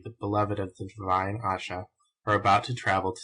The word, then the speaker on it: Ayesha: has been common in the east should be pronounced Asha.